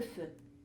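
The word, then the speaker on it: phở: capitaine bah alors le feu c'est à dire c'est une soupe vient bien d'autres se sentent seuls th au site ou femme et on prononce avec comme si c'était un e le feu le faire consiste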